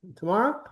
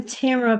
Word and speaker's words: Tamara: Tomorrow, I'm Tamara Puffer and and people pronounce my name tomorrow all the time, so don't worry about it.